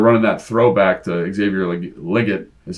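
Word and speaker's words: Legette: yep they they're running that throwback to Xavier liot as how you say his name apparently Bram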